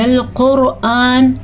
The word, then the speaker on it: القرآن: البتہ قرآن ایسے نہ پڑھ لینا آپ کیونکہ یہ حمزہ ہے، عین نہیں ہے.